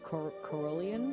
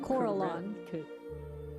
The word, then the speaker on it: Corellon: I can't pronounce it. Corellian? Corellon.